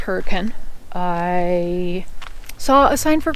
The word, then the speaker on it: Hurricane: It's pronounced Hurricane.